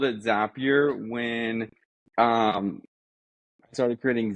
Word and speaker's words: Zapier: have a question yes is it pronounced zapier or zapier how do you pronounce it well I've always said zapier and I want to know when you decided to start calling it zapier cuz you were a